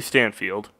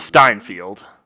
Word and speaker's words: Steinfeld: Haley Stanfield. Haley Stanfield. Is it spelled like Oh, Haley? Steinfeld. Not Stanfield.